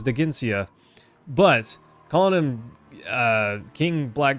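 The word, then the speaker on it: Dheginsea: Rashik, it did pronounce it for me, so I did know it was Daginsia.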